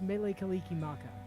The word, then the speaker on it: Mele Kalikimaka: Also, it's pronounced Mele Kalikimaka, by the way.